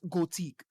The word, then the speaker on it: Gothic: of piranha bites and its name is gothic or as the Europeans like to pronounce it as goateek and oh man oh